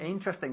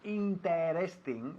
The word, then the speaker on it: interesting: Interesting, fantástico. No decimos interesting, sino interesting. Nos comimos la primera E, ¿ok?